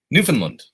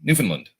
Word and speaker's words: Newfoundland: time difference between uh Newfoundland did I say it right Newfoundland not Newfoundland not Newfoundland Newfoundland somebody called me out because I say Newfoundland but I think it's Newfoundland so Brian for that's right